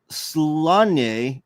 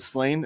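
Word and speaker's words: Sláinte: I think it's pronounced Slanye from the Gaelic. Yes, so everyone pronounces it Slain, every dumb American, I guess. But yes, Slanye.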